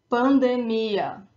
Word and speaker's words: pandemia: So for these words that end in ia, when they do not have a graphic accent elsewhere on the word, the emphasis, the stronger syllable is the last one, is that ia at the end.